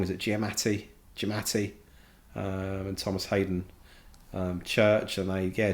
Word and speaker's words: Giamatti: I pronounce it wrong. Is it Giamatti?